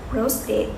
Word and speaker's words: prostate: is the prostate gun prostate pronounced like rose state it lies under the